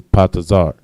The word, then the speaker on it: patazar: And the word urge in Hebrew is patazar. Pa, taza, and ra. Patazar. All right.